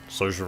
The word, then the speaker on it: Saoirse: in know best film she doesn't spell it like Saoirse Ronan but it's social Ronan so I think it's